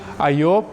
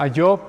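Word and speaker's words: איוב: Su nombre original en hebreo es Ayob, ¿sí? O si lo pronunciamos en español es Iyob, pero en hebreo se pronuncia Ayob.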